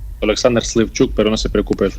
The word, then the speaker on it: Oleksandr Slivchuk: ¿Estoy pronunciando bien su nombre y su apellido o cómo se pronuncia? Alexander Slivchuk, pero no se preocupe, es un nombre complicado.